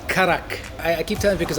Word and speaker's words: karak: I think phonetically in the Indian language it is karak.